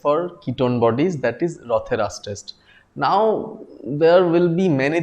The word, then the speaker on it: Rothera's test: in the last class, the test which is named after any scientist should be always pronounced with an apostrophe s. You just cannot call it Rothera test. That is wrong. Okay, some examiner might take offense. So remember, it is Rothera's test.